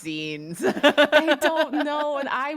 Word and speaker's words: zine: Yeah, cuz I think a lot of people just see it's spelled and think it's pronounced like Vine, but it's it's Zen, like magazine.